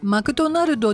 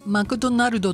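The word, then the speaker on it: McDonald's: と思いますえ皆さんマクドナルドと発音してないでしょうかこれでは通じないんですね英語圏内ではマックで切りますマックドナルドドナルドじゃなくてドーナルドって言いますで続けて言うとマクドナルママとだを大きく言うんですねマクドナルって言うと通じます全然マクドナルドと発音違いますのでお気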